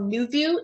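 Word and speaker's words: NuVu: I think New View is one of the design schools who has a very strong social media presence.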